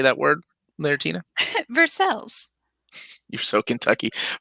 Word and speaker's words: Versailles: Versailles. You're so Kentucky. Versailles, Kentucky, 40383. Versailles. It's also in the description of this video. Or when I talk to other people on the phone. You always say Versailles.